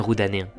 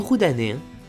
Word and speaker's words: rodanenc: Une belle distinction do parla roudanais pertoca le biais de pronunciar aquel graphème. En maritime si disons ch, dj. Mais en roudanais si disons puleu ts, dz. Ciurmo, zurmo.